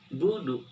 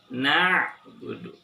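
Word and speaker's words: نَعْبُدُ: Tapi bacanya harus seperti gak boleh budu. Gak boleh dibaca budu, tapi na'budu, na'budu, na'budu.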